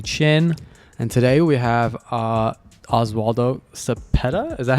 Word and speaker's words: Oswaldo Cepeda: And today we have Oswaldo Cepeda.